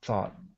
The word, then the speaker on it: thought: They do, but this taught starts with a hard T sound, and the second one starts with a th. Okay. That's the biggest difference. So taught, thought.